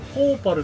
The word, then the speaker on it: PowPal: これは何これポーパルって読みますこあのこのシステムの名前みたいなことそうですねバグトラックポパルモデルはいお肉球